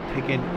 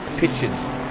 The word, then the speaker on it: Picken: Just FYI, Picken is pronounced Pitchin.